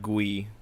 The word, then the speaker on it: Gui: uh someone named Bernard gu um I think it's just ghee ghee I think in in the French like Bernard G but I think the